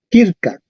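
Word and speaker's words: circa: lee esa palabra en latín Cómo se leería kirka correcto kirka en la quincería kirka y en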